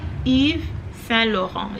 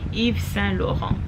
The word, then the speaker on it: Yves Saint Laurent: Yves Saint Laurent. If you want to pronounce that name in full, you will say Yves Saint Laurent.